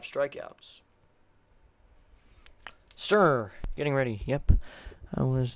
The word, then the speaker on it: Sterner: It's going to be Justin Sterner. Not Justin Turner, the pitcher. It's Sterner, spelled with an S.